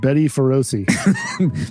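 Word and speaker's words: bestie feroci: It's pronounced Betty Feroci.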